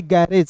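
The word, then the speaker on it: garage: ठीक है, उसके बाद देखिए यहाँ पे GRAGE, तो देखिए GRAGE को पढ़ेंगे गैरेज।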